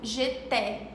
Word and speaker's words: j'étais: A e S tem um som de E, como j'étais.